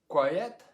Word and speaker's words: quiet: this word down here quiet good yeah two syllables yeah good job tonight um this this little sound is important in the middle because if we don't get the ya sound it's hard to hear the two syllables quiet is an exception